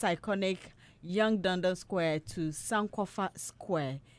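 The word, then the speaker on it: Yonge: How do you pronounce this, Doreen? Is it Young Dundas? Youngie Dundas. Is it Youngie or Young?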